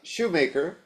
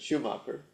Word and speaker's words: Schumacher: I think you know the story, but Tosei Shoemaker, that's the American pronunciation, I think he pronounces it Schumacher, is a gifted potter and knew that two of our priests would be receiving a bowl.